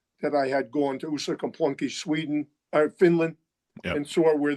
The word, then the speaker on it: Uusikaupunki: I'm impressed by your pronunciation of that town again. What was the name again? Uusikaupunki.